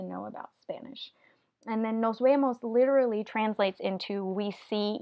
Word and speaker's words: nos vemos: into see you later here the letter V is not in between two vowels so we have here we have an S next to it and then here we have an e so this v stays the regular letter v does not change